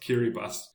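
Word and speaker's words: Kiribati: or kiras kiras is spelled kirti but it's pronounced kirbas there are several countries like that oh my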